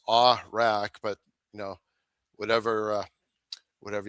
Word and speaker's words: Awrach: And yeah, last name pronounced Awrach, but you know, whatever whatever you like.